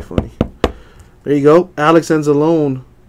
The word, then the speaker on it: Anzalone: Alex Anzalone. Rhymes with pepperoni.